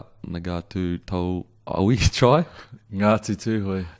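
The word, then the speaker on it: Tūhoe: Ngatu Tuhoi. Tuhoi.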